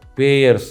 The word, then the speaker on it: Payr: instrument in immediate surgeries remember that is uh payers spelling remember P A Y R is pronunciation is payer spelling is P A Y